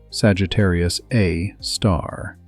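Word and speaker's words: Sagittarius A*: Sagittarius A, pronounced Sagittarius A star.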